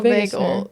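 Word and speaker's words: vagal: saying it wrong yeah it's not Vegas nerve it is vagel yeah either anyways I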